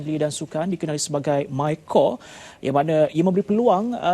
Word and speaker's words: MyCorps: Sebelum tu kita tanya kepada Saudara Effendi, MyCore ini merupakan salah satu program di bawah Kementerian Belia dan Sukan. Walaupun ejaannya MyCorps tapi sebutannya MyCore Correct.